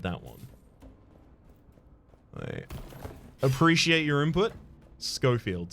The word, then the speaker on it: Schofield: one appreciate your input schofield schofield i always thought that like that would be the beginner's trap to call it schofield rather than sheffield shows what i know